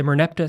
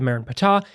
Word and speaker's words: Merneptah: very real artifact, the Merneptah Stele. They call it the Merenptah. You'll hear it pronounced either ways.